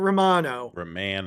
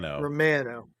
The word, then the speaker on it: Romano: Not Romano. Romano. Gosh, I've been saying it wrong, and I felt badly.